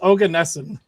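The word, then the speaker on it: Oganesson: of them all okay so this says it's ogan nessen pretty close then right Google pronunciation no this is from how to pronounce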